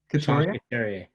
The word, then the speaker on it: Couturier: How do you pronounce his last name? Couturier.